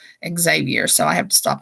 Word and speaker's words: Xavier: I started off Javier because actually the first time I ever saw the name, it was somebody whose name was spelled like that, and it was Javier. And so that's always the first thing I go to.